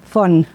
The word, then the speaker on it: Font: Como es un apellido catalán, cuando quieren pronunciarlo bien, pronuncian la T. Que se agradece mucho, pero no se pronuncia. Teresa Font.